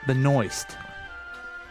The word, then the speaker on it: Benoist: that is Supergirl is Melissa Benoist come again that's her name okay but moist I think so okay and oh is T that sounds like it interesting just rhymes with moist yes it does the